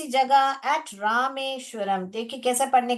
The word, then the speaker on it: रामेश्वरम: मगर इसको रमेश करके नहीं पढ़ने का, रामेश्वरम पढ़ने का। ठीक है, रमेश्वरम नहीं पढ़ना है हमको, रामेश्वरम।